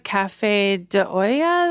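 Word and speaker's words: café de olla: their uh coffee it's I think it's Cafe deoya is how you say it and it's um Mexican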